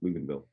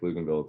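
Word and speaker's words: Pflugerville: It's spelled PF Luganville, in case you were curious. PF Luganville. Why in the world was it spelled that way?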